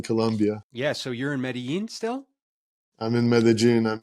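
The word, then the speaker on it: Medellín: It's Medellin, nice. that's how the locals say it.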